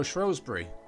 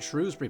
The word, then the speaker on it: Shrewsbury: point of view camera so shury or is it shrewbury parkon even the locals can't agree on the pronunciation is a very popular